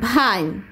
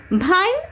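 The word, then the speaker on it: vine: ভাইনটা কি উচ্চারণ হচ্ছে ভ, মানে ভি দিয়ে কিন্তু হচ্ছে।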